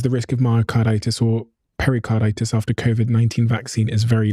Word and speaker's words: pericarditis: It says that up to 1 in 10,000 people with the Pfizer vaccine are at risk of myocarditis or pericarditis. Have I pronounced that correctly?